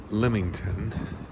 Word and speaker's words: Leamington: Walking to supper in Leamington, which we learned is the correct way to pronounce it.